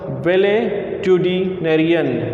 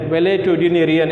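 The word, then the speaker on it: valetudinarian: The word is it's difficult to pronounce. You remembers वेलेट्यूडिनेरियन. वेलेट्यूडिनेरियन इज the process that generally people having tendency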